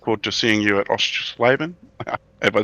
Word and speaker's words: Oschersleben: And I look forward to seeing you at Oschersleben. Have I said it right? Do you know how to say it? Oschersleben? Yeah, close enough. Oschersleben, yeah.